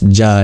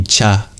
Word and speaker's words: Cha: The first one isn't Ja, it should be Cha. Cha. You'll notice in the actual Sanskrit it starts with Chakra, which means the letter Cha. So I was wrong to pronounce it like that.